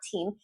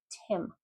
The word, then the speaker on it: Tim: No, it's not Team. It's Tim.